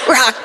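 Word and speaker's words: Roch: It is not spelled like that at all. That's fucking... Oh, I see. Okay. Oh, I get it. Yeah. Okay. Right? R-O-C-H. And that's I had to write it phonetically for myself. I literally on every page it says rock like a rock, Terry-O like SpaghettiOs. Wow.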